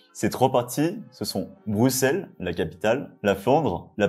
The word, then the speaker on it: Bruxelles: évidemment Bruxelles et oui le X prononce ce donc c'est pas Bruxelles c'est Bruxelles le centre-ville est pas